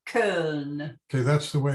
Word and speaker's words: Köln: Köln. Köln. Okay, that's the way it's pronounced today.